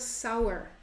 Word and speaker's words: flour: we're going to need flour right this is flour but watch out flower is spelled like this this is flower not flower right the pronunciation is the same but this is what